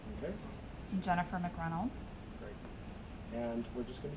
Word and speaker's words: McReynolds: say your names the way you like them pronounced and Leonard MC Reynolds okay and Jennifer MC renolds great and we're just going to be talking